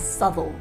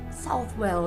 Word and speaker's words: Southwell: to my guns here and insist the correct pronunciation is subtle southwell is so bland so boring so math so